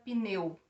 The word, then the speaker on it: pneu: O que acontece, por exemplo, com a palavra pneu? Que nós temos aí o famoso P mudo, né?